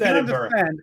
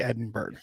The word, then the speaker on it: Edinburgh: Like, come on, it's Edinburgh. I can understand it. American people would say Edinburgh because it's spelt like that.